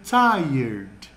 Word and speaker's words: tired: Na pronúncia é como se o E viesse antes do R.